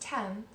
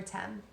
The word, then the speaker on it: Thames: a very famous river in London and it's pronounced 10 but it's spelled th a.m. es it's very strange and that's the river 10 the tide was coming in the river surged